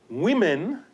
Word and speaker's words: women: So we change the sound of the vowel in the first syllable in order to make it more understandable.